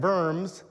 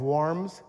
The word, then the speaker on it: Worms: there as it spreads north into Strawburg and Verms. Uh, I love city names. Uh, in in German, the W is pronounced with a B. So, you've seen this diet of worms.